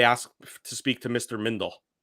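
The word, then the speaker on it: Mindell: happened my entire also a lot of people say mandel which i don't get because it's clearly mindel mindle i never quite understand because it's spelled clearly m-i-n-d-e-l-l like farmer in the dell so i don't know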